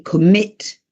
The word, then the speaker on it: commit: Vedete, commit, l'accento sono bisillabici con l'accento sulla seconda sillaba.